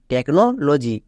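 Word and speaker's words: technology: ও জি ওয়াই লজি টেকনোলজি next T ই সি H take L আই নি সি এ এল কাল টেকনিক্যাল এখানে দেখো প্রত্যেকটি ওয়ার্ডের জন্য সি এইচ এর জন্য ক হচ্ছে চো কিন্তু হচ্ছে না তাহলে এখান থেকে আমরা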